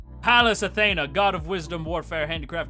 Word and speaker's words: Pallas Athena: Palace Athena, god of wisdom, warfare, handiccraft, guardian of heroes, protector of Athens and the silliest boy in all of Olympus.